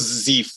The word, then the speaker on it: Zeif: All Hey, from the Sultanate of whatever, Zeif. How do you guys pronounce it? We go with Zeif now. Zeif.